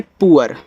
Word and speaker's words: poor: POOR को पढ़ते हैं पुअर, ऐसे पुअर, पूर मत पढ़ना, पुअर पढ़ देना इसको।